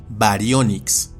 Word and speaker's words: Baryonyx: Y ahora unos ejemplos, como con el género que se pronuncia y castellaniza como baryonyx, o como con el género que se pronuncia y castellaniza como Xenacanthus.